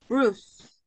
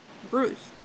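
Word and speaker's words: bruise: that's me Moro exactly but you call it Bruce Bruce the pronunciation in this one Bruce a Bruce yes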